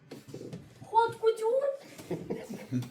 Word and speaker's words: haute couture: Haute couture? Haute couture. H is silent.